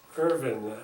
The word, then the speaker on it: Irvin: thank you Corporal all right Corporal will you pronounce and spell your full name please Irvin i r v i n k mcar m